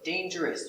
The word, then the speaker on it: dangerous: Remember, dangerous, you have O-U-S. When you finish O-U-S, always pronounce S. So pronunciation, dangerous.